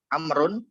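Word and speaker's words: عمرو: mau nulis nama Ammar amrun itu kita harus tulis baut di akhirnya jadi am Run tapi setelah roh harus kita tulis bau amrun jadi amrun Wow di sini ada secara lisan saja tapi secara pengucapannya tidak ada pun kalau Umar maka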